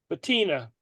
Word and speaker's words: patina: how do you say it's a patina yeah there you go sounds like petunia that's how remember it petunia patina ah you